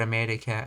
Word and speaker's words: America: Consider the word America. Americans pronounce me with a slightly higher pitch and slightly longer duration. America.